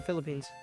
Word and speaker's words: Philippines: Japan Diana herself was from the Philippine the phili phines is that how you say it yeah the Philippines I was in Texas at the time and